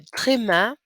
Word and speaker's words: tréma: Le tréma, that's how it's pronounced.